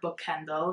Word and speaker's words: boekhandel: the uh athenaeum bookstore book kendall is how you say bookstore in dutch and it's actually right